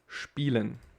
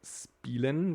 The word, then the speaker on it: spielen: With here, we got this one, spielen. No, we don't say spielen, but we say spielen. And here you can see again this I and E together, so we got like spielen.